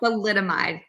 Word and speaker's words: thalidomide: Thalidomide. thalidomide. Wow, that's a tongue twister. So thalidomide, it's used for morning sickness, or that was they thought.